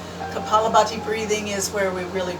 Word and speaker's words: kapalabhati: a little bit of calabach kalabati breathing kapalabhati breathing i knew i wasn't even out of a syllable kapalabhati breathing is where we